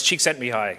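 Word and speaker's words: Csíkszentmihályi: tough room um so it's it's cheeks sent me high just in case it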